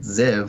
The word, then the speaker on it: Ziv: Ziv. Whoa. It's one syllable.